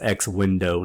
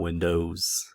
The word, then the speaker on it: X Window: it so it's the it's x window and if you want to be pedantic like i am and you're like working somewhere or intern or something like actually actually you know comic book nerd or whatever uh it's x window not windows but uh this is